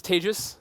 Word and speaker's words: Tejas: My name is Tejas. That's pronounced like advantageous for those of you who have some trouble.